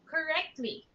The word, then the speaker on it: correctly: Now that's correctly, Correctly. right? So Correctly. yes, there's no extra vowel sound in between the letter T and the letter L. So it's just three syllables.